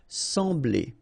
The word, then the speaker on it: sembler: So EM will give you the sound en. Okay, so you don't pronounce the M, you just get the sound en. Sembler.